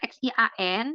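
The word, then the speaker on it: 陷: Nah, X I A N di sini bacanya Xian.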